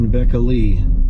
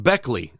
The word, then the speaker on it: Beckley: the old sheets and rebecca lee it's actually pronounced beckley let's not add any